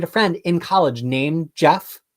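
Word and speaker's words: Geoff: from GF John's I it's probably said Jeff this is a me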